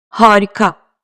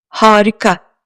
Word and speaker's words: harika: Arkadaşlar, harika kelimesindeki ilk A şapka kullanmadığı halde ince okunuyor. Bakın. Dikkatle dinleyin. Harika. Biliyorsunuz, ince okunan seslerde biraz da uzama var. Bu kelimede bu uzamayı net duyarsınız. Bakın. Harika. Eğer bu A ince okunmasaydı şöyle telaffuz ederdim. Harika. Ama doğru telaffuz bu değil. Doğrusu harika.